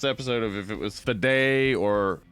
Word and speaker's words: Fede: of if it was fed or fed it's like it's it's short for feder Rico though there is an e on the end of it you you're not pronouncing it so it's just the